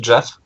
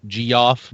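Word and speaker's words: Geoff: join blizzard rename to Jeff apparently I don't I don't know if it's pronounced g off but I'm pretty sure it's Jeff okay yeah it's Jeff g e o FF yeah uh he is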